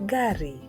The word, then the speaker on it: gari: The next letter is pronounced as Ga. Ga. And the word is gari.